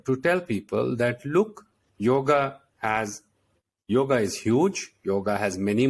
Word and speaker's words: yoga: Yeah, because in Sanskrit we have two A's. Yoga. And A. So the yoga, the end is yoga, a small a.